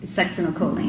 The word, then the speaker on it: succinylcholine: And so, if the, butcher the pronunciation, you pronounce it. Succinylcholine.